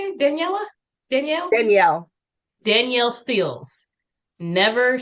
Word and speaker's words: Danielle: Never Daniela, is that how you say it? Daniela? Danielle? Danielle.